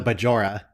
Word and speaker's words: Bajor: was bajor yeah right the emphasis was on the wrong syllable exactly all right everyone